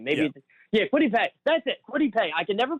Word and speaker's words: Kwity Paye: I can never pronounce the guy's name. Kitty Pieway, the defensive end from Michigan. Maybe, Kwity Paye. That's it, Kwity Paye.